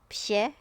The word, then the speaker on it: 謝: of identical characters usually pronounced the first character correctly so this one she is the fourth toe and then the second character we say it in a much softer tone yes yeah yes yeah